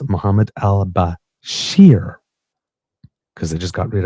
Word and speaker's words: Bashir: named uh now listen be be careful the pronunciation here it's Muhammad Al Bashir because I just got rid of Al Bashar so not the same place so it's Basher B- a s h i r um according